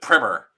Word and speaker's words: primer: Primer. That's the correct way to pronounce primer.